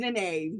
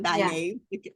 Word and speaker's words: Nynaeve: Her name's Nynaeve, not Nynaeve.